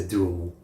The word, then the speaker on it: Douaumont: I guess in French you would say Douaumont.